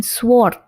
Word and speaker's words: sword: Ya, bukan sword ya, bukan sword tapi sword. Sword. Jadi way-nya ini silent. Kita tidak mengucapkan W-nya.